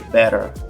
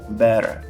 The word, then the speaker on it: better: do t em inglês a gente tem o t americano que entre duas vogais ele muitas vezes vai